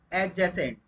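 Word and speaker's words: adjacent: इसी तरीके से अगर वर्ड हो एडजेसेंट, यहाँ पर डी साइलेंट होता है, तो इसके साथ हम यूज करते हैं टू प्रेपोजिशन का।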